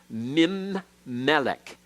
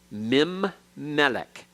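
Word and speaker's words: מִמֶּלֶךְ: letter to assimilate it so we have min Melek MIM Melek all right you double the M the main in sound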